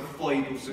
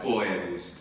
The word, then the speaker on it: foedus: Anche questo, foidus, come boy, cioè ragazzo in inglese, se non vi torna oi, allora oi va bene, cioè foidus, foidus. E questo è importante, fare una sillaba, laeta, foidus, non foedus, non laeta, non comodiae o qualcosa del genere.